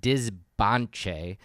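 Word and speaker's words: Dzibanché: the capital of the Canal Kingdom, which is pronounced Dizbanche, and with the nearby city of El Peru, Huaca.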